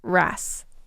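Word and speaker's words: wrasse: this Blue Streak cleaner Ras and because this is important I'm going to spell it out for you Blue Streak cleaner is pretty self-explanatory but Ras is spelled w r a SS e they're basically fish that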